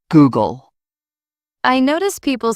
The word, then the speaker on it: Google: Some pronounce Google with stress on the gle. It's Google.